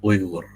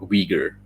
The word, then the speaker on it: Uyghur: It's pronounced Uyghur, okay, not Uyghur.